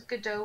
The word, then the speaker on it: Godot: It's It's Godot.